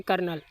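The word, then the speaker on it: colonel: आगे लिखा हुआ है कर्नल। अब इसमें एल के बाद जो होता है वो साइलेंट होता है।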